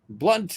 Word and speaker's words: Blunts: and I see uh blunts is pronounced blunt like hit with a blunt object I'm just hoping it